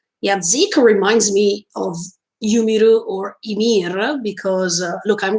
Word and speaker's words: Ymir: Yumiru, even if I know that the real pronunciation is Ymir, so please don't complain for this, thank you.